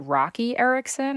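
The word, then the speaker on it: Roky Erickson: It's a tribute to, is it Rocky Erickson? Is that how you pronounce it?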